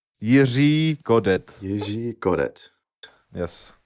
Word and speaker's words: Jiří Kodet: Well, Czech being one of the hardest languages on the planet Earth, it's kind of hard to pronounce the letter. So it's one of most people have a problem with that when they don't learn it since they were really fucking small.